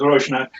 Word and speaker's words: Rosnak: Rosnak. Wow. If you want proper pronunciation, it's Roshnak. Rosnak.